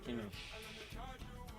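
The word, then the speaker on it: Kingish: It's spelled King. Yeah, but we say King-ish.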